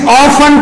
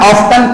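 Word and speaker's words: often: تربیت دیتا ہے کہ بیٹا برٹش انگلش آفن کہتے ہیں اور امریکن آفٹن کہتے ہیں، بیٹا دونوں لہجے سیکھو.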